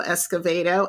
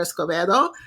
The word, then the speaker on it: Escovedo: introducing me to Alejandro Escovedo I had to actually go and listen to him say his name because again I was falling back on my Spanish and I want to call him Alejandro Escobedo but yeah yeah you